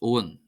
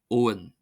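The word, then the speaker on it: abhainn: However in olster is pronounced owen owen o n owen owen.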